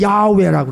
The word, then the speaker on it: 야훼: 구약에서 창조주에 대해서 주신 말씀이 두 가지가 더 있는데, 하나는 여호와, 하나님의 이름, 발음은 야훼라고 그래요.